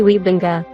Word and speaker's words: Wiebenga: groningen in the netherlands so the correct way to pronounce it would be gary wiebenga i have seen him